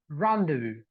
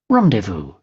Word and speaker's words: rendezvous: this rendezvous rendezvous rendezvous rendezvous rendezvous and the U.S pronunciation is you can see over here this is the ah sound right rendezvous rendezvous rendezvous right so that's how you